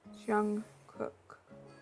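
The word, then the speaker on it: Jungkook: The other one is pronounced Jung Cook, like cookie.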